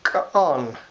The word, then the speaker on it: k'on: Our word for bread is just k'on, k'on. Two, kind of like two syllables, k'on.